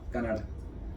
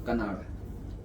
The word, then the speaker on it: कणाद: नाम था गौतम, कणाद, कणाद लिखा है इसमें, कणाद, इंग्लिश में देखिए क्या लिखा है, KANADA। हाँ, कनाड। तो बताना एक बार, प्रॉपर प्रोनाउंस करें हम लोग। हाँ, कणाद।